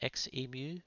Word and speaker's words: Xemu: that I always say Zu instead of XMU. So I thought I'd explain my reason behind that. Coming from Australia here we're accustomed to pronouncing lots of X words with the sound zed.